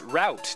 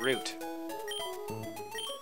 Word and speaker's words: route: Pronounced route, not root.